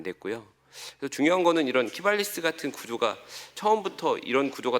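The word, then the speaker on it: Qivalis: 그래서 저는 이제 사실 법보다는 이제 시장을 보는 입장이다 보니까 제가 주목하는 건 최근에 이제 키발리스라고 발음을 좀 잘해야 됩니다.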